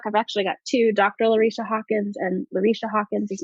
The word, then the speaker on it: Larycia: I'm on Facebook I've actually got two Dr Lisha Hawkins and Lisha Hawkins is my personal one